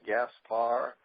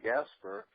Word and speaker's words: Gaspar: is probably the main problem believes should be pronounced Gaspar but for whatever reason you know growing up my parents always said Gasper and is this the correct pronunciation probably should